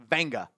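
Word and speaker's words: Olaivavega: His name is pronounced Venga. Go listen how he pronounces his name. There's an N. There is. I don't If I want If it was Vega, that'd be easier. It's Venga.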